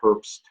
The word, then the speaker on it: Herbst: So this is not like Terrible Herps where you can pay $8 to $20 for the washes. No, the H is silent. Terrible Herbst. The H is not really silent. It would be Herbst, but it's Herbst, like the name Herbst.